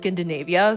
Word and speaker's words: Skindinavia: I'm realizing now that it's pronounced Skindinavia, so ignore every wrong way I pronounce it moving forward.